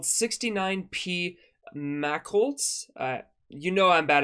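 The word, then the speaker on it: Machholz: own tail so this comet is called 69p Mack Holtz uh you know I'm bad at pronouncing things m-a-c-h-h-o-l-z so yes there's two h's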